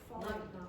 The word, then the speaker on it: foreign: Foreign. Again? Foreign. Foreign. And what's the silent letter? G. G.